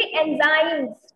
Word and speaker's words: enzymes: नो, इट इज एंजाइम. बोलो बोलो सी, एंजाइम, एंजाइमस नहीं, एंजाइम्स. ठीक, अगेन एंजाइम. हाँ, एंजाइम बच्चे भी बोल के देखिए, एंजाइम्स.